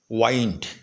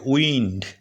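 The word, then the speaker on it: wind: এর উচ্চারণ যেমন আই এখানে আই এর উচ্চারণ ই ও হতে পারে তখন ডব্লিউ আই এন ডি উচ্চারণটা হবে উইন্ড কি হবে ডব্লিউ আই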